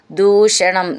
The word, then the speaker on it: ദൂഷണം: എന്നും നന്നായിട്ട് ഊന്നി പറയാനുള്ളതാണ് ദൂഷണം ദ എന്നുള്ളത് ദയയിൽ ദ എന്നാണ് ദൂഷണം ച ത്രിമൂർ ധം എന്നുള്ള